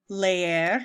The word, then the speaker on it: leer: drink aprender to learn lair I know that lone looks weird it looks like leer but its lair you kind of pronounced both ease come friend there you